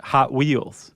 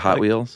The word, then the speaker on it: Hot Wheels: how they pronounce It Hot Wheels oh instead of Hot Wheels yeah the emphasis is on the hot it sounds awkward they're